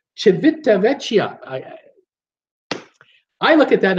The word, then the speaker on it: Civitavecchia: Soviet but if this if the C is pronounced with a cha or like a CH sound then its Civitavecchia I I look at